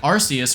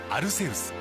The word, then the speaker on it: Arceus: If we do that, it becomes clear that its Japanese name isn't pronounced with a K sound. Pokemon Legends Arus.